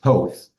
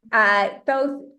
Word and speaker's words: Thoth: So yeah, so we are not calling him Thoth anymore, but Thoth, which is the correct name.